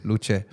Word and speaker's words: Luce: So should we announce it as Luce or Luce? Luce. Okay, so I'll just say Luce all the way. Yeah? Okay, good. I want to make sure I say it properly. It's not Lucha. Yeah, it's Luce.